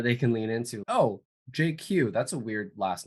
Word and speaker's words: Jay Kiew: their full name so that's how my name is pronounced JQ and you're not going